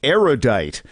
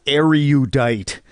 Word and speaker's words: erudite: number of erudite people mispronounce erudite which has three syllables not four say erudite not are you diet because you are judged